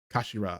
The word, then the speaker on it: kashira: It's written as head in Japanese, but pronounced as kashira, I believe.